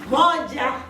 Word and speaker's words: moja: So Kenyans tend to pronounce things more strictly or harshly. So it will be moja.